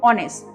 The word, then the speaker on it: honest: ओ, honest. Now O is sounding like this O, so that's why we put an on a scale, not honest. It is a wrong pronunciation.